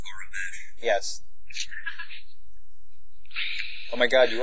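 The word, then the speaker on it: Aurebesh: Even the fact it's pronounced Arabesh.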